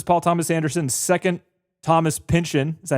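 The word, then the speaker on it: Pynchon: Um, this is Paul Thomas Anderson's second Thomas Pinchin.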